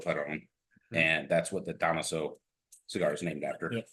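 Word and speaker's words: Dámaso: cigar is named after, which most people say Damaso. Damaso. Yeah, that's kind of how it's pronounced Damaso. I've always, even in Spanish, I pronounce it Damaso. Yeah, well, it's fine, but he puts the accent mark on. No, that's fine. Yeah, that's the technical pronunciation.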